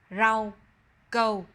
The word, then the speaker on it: rau câu: Au, âu, au, âu. We will pronounce these combinations with a name of a dessert. Do you recognize this dessert? It's rau câu.